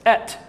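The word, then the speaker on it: את: And if you were to pronounce the Aleph and Tav, it's Et.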